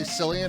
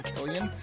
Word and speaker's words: Cillian: it's actually sillian and then I'll say Cillian and someone will get in my face and go it's actually Killian at which point I